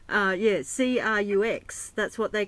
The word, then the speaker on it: Crux: Yeah, C-R-U-X, that's what they call the Southern Cross here. They call it the crux? Is that they pronounce it crux? Yes, or how do they yes, yes, yes.